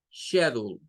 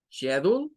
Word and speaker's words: schedule: Y luego you'll, schedule, schedule, schedule, schedule. Serían las dos pronunciaciones.